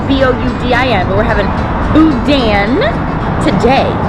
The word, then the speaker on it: boudin: It's spelled B-O-U-D-I-N, but we're having boudin today.